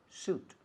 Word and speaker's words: suit: Como traje, se escribe sweet. Pero no se dice sweet, se dice suit.